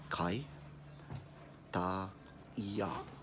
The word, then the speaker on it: Kaitaia: saying hi alright so repeat after me CAI dah yah so the hardest part